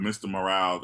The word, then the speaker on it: Mr. Morale: like especially with this last album he did with Mr. Morale and the Big Steppers.